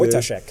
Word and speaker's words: Wojtaszek: Wojtaszek. Ivan Saric, who Yeah. we just mentioned, of course. It looks, I still some dangers here in this position for Wojtaszek as he's facing a passer.